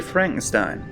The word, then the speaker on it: Frankenstein: And we see Frankenstein. I will always pronounce that Frankenstein because Frankenstein is a German word and Stein with EI is pronounced that way in Germany.